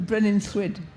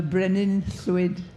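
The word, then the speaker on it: Brenin Llwyd: You have to put your tongue behind your front teeth and blow around the sides of it, so it comes out Thwyd.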